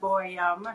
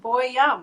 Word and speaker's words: Boyum: Well, my name is Boyum, as Jamie said, Boyum. She was saying it right, so it's just Boyum, right?